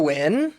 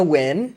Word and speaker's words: VVYND: lagi ada di Hai gue Wen spellingnya VV y n d bacanya when dan hari ini gua